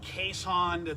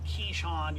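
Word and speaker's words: Keeshond: dog and uh we're getting one um and caisson that's the proper pronunciation keyshawn it's not a keyshawn johnson it's it's essentially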